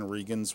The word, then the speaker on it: Regan: on Twitter at Regans with an S as well. Okay, and that's spelled R-E-G-A-N. Yes. Okay, got it. So it's Regan, not like our former president.